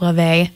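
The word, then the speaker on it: Lauv: Both of these artists, I'm sorry, I said Lofi, it's Lave. I keep getting that pronunciation wrong, it's Icelandic.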